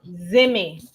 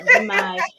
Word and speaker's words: Zimmy: What's the correct pronunciation? Zimmy. You Zimmy? Zimmy. Zimmy. So it's not Zimai, you It's see not me? Zimai. It's not Zimai.